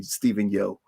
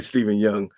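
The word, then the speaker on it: Steven Yeun: right Steven young yeah I always say Steven yo clearly Steven young um he should get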